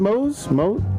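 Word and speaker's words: Moze: I'm going, I think you pronounce it Mose?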